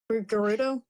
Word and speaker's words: Gerudo: Like Gerudo, I believe it's pronounced. Gerudo. Yeah. Gerudo.